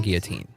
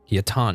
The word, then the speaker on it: Guillotin: the theme is Alan Guillotine. Guillotin. Apparently, it's Guillotin. I've been pronouncing it wrong this whole time, and that must have sounded like an idiot.